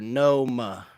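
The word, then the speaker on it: Pneuma: no doubt okay so pneumonia is a song by tul and is pronounced n or Noma Noma Noma okay interesting that's nma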